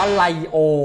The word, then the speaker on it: ไรโอ: หนุ่ม กชัย นะ คะ อ่าน ว่า ไรโอ นะ คะ อัน นี้ ไม่ ใช่ ลีโอ ถ้า ลีโอ จะ เป็น